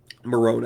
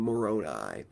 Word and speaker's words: Moroni: Moroni, I believe, is the proper pronunciation.